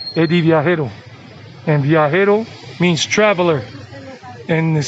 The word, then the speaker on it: viajero: don't pronounce it well they would say edie it's not idea it's eddie eddie and means traveler and